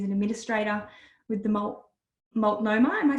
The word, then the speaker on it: Multnomah: kami Stevenson is an administrator with the malt multnomah I am I saying it right wonderful early